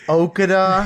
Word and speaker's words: Okada: Match number 10 is a singles match between Kazuchika Okada Am I pronouncing that right?